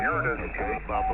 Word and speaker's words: Uranus: Hey, Chris, just for your edification, it's actually pronounced Uranus, and it's actually named after the Greek god of the sky.